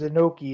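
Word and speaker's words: Inoki: coming down all right Antonio inaki noi inaki Antonio inoi that's how you actually pronounce it yeah but that's the joke because inoi it sounds like a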